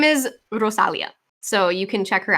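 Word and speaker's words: Rosalía: Her name is Rosalia, so you can check her out. I'm looking. Prepare for weirdness. Rosalia, everybody. Rosalia. You have to roll the Rosalia. R. It has an accent on the I.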